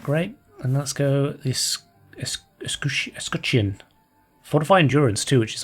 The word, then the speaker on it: Escutcheon: Escutcheon.